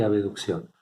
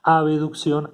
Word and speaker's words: abducción: Acá no está la letra E, pero para pronunciarlo diferente se pronuncia aducción y abducción.